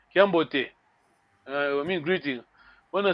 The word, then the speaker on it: Kiambote: When I say Kiambote, it's fast. Yes, there's no pause. Kiambote.